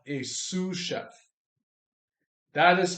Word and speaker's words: sous: next one the next one is called a sous chef that is spelled s-o-u-s Chef sous chef or other people